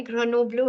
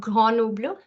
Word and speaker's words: Grenoble: So I told you that the first syllable is gr, second syllable is no, and the third is blur.